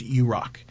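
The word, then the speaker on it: UROK: korea which would be the acronym you are okay pronounced iraq and so we want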